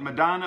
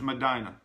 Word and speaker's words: Medina: Madonna North Dakota now I've always wondered whether you call it Madonna or Medina but scotf all confirmed to me the proper pronunciation is Medina following nine minutes of